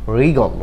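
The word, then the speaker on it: wriggle: তৃতীয় নাম্বার যে ওয়ার্ডটি ডাব্লিউ আর আই এস T, wrist. Wrist তো হাতের কবজি, রিস্ট তো কি হাতের কবজি, এখানেও ডাব্লিউ লেটারটি সাইলেন্ট রয়েছে।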